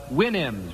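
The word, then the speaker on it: Houyhnhnms: It was from Gulliver's Travels, but it was from the mythical kingdom was the Winnims. Remember the Winnims? Supposed to pronounce it like you do a horse's whinny, I think.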